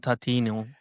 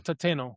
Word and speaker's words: Tateno: We're gonna pin every one of these pronunciations of yours through this Norino and Tatiano. Norio Tateno.